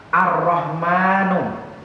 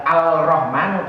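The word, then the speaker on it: الرَّحْمٰنُ: Ar-Rahmanu. Ar-Rahmanu ini juga namanya al, walaupun bacanya tidak al, menjadi ar. Ini namanya dalam kita belajar tajwid biasanya al-syamsiyah. Al-Syamsiyah memang bacanya tidak Al-Rahmanu tapi menjadi Ar-Rahmanu.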